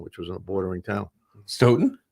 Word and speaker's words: Stoughton: was a bordering town stoughton rhymes with broden oh yeah look at